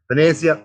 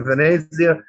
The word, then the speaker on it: Venezia: So I'm going to stick to Venezia without the emphasis on the Z.